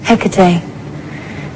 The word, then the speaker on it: Hecate: Um, how do you pronounce it? Hecate.